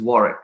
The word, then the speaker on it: Warwick: you know is spelled as warwick but the pronunciation is warwick so just fyi they have a scholarship called